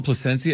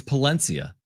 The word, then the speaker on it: Palencia: By the way, did I call him Placencia? It's Palencia.